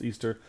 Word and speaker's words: Ishtar: Easter, as we know it, comes from ancient pagan festival of Astarte, also known as Ishtar, pronounced Easter.